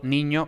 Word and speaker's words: niño: Ni es tónica, por tanto ni es ni, pero luego ño y ña es átona, entonces los ingleses van a tender a pronunciar exactamente ño y ña, es decir, ñ más schwa. pero claro, entonces no sabemos si es niño o niña.